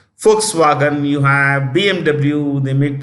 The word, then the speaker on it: Volkswagen: companies like you know Volkswagen pronounce with a written with a V pronounced an F Volkswagen you have BMW they